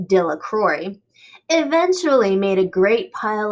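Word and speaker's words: Delacroix: and harry jones and dickie de la craw the villagers pronounced his name dilla crore eventually made a great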